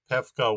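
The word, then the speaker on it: Πεύκα: there's upsilon in that if you have upsilon between a vowel and a consonant like this, it's actually an f. Um, although oddly, on this one they write Pefka with the accent on the upsilon as if it is a vowel.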